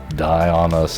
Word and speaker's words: Dionus: nothing undy on us die on us that's how we're pronouncing it now because that is what